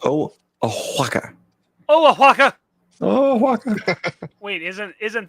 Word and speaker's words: Oaxaca: By the way, it's pronounced Oaxaca.